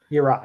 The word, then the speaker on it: Yirah: Yirah, yes.